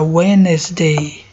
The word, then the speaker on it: Wednesday: Wednesday, o D não pronuncia. Wednesday.